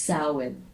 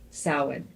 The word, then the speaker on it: Samhain: Halloween's origins date back to the ancient Celtic festival of, it's spelled Samhain, Samhain, but it's pronounced Samhain. Samhain.